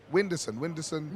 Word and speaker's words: Whindersson: Whindersson.